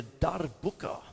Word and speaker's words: darbuka: And with a darbuka, that's what that is. You've got to try and roll your R. Darbuka.